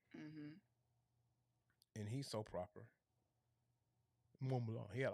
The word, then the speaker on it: Mont Blanc: if I ever get my hands on this Mont Blanc tablet, oh jeez, I'm definitely gonna get a top hat to do that review. Because it requires a top hat. And I gotta say like Mont Blanc.